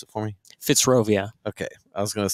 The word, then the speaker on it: Fitzrovia: Pronounce it for me. Fitzrovia. Okay. I was going to say Fitzology, you know, but you get the sign.